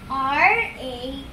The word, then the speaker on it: ratatouille: It is spelled as R-A-T-A-T-O-U-I-L-L-E and pronounced as Ratatouille with a silent L.